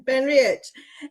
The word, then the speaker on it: Benriach: Benriach, I always think reach for the Ben because it's what it says on the tin, guys. Reach for the Ben, Benriach. Benriach. It's how you actually pronounce it.